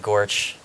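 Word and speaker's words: GOARCH: OSS in platforms with using the goose and Gorge command-line rx which if you're a gopher con that's the official pronunciation of the builds command line flags according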